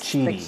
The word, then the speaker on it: QIDI: And he says it's pronounced Cheedy, he thinks. Cheedy. The QIDI. Okay.